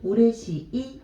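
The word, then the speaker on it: 嬉しい: 우레시이 라고 읽어주시면 돼요.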